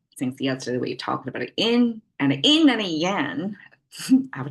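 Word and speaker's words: 阴: Then yin, flat tone.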